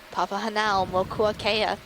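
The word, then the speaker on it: Papahānaumokuākea: Oh, every day it was, let's practice pronouncing Papa Hanao Mokuakea. Yeah, you got to break it down into 4 parts, and then you actually have a chance of getting it, Papa, Hanao, Mokua, Kea.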